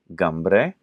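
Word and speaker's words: Cymru: you have whales which in their language is pronounced gamre so you have that G again GA which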